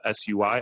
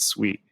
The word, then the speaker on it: Sui: that's building sui the sui I kept I kept calling it sui and only in the conference I learned that you pronounce it sweet that's my that's what